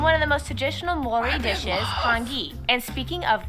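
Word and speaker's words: Māori: korea and japan yes by the way it's pronounced mori not maori maori they use the new zealand dollar as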